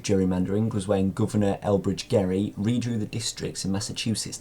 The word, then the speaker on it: Gerry: called it gerrymandering because his name was Elbridge Gerry, not Jerry, but it's pronounced today as gerrymandering, so his name technically hasn't gone down with it.